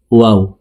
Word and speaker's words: واو: 2 ঠোঁট গোল করে 2 ঠোঁটের মাঝে ফাঁকা রেখে ওয়াও হরফের উচ্চারণ করব, ওয়াও।